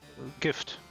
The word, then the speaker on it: Gift: How do you pronounce it? Gift. Just Gift?